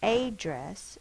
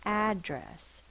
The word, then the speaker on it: address: One D sound but we need to double the D in the middle of the word to protect that short vowel because if it's a vow by itself it could be an open syllable and remember open syllables tend are not tend to but they are long we cannot have that turn into a long a it's not a dress it's address so we have to